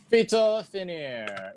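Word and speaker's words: Phytophanère: I also have PHYTO Finnair. Is that how you pronounce it?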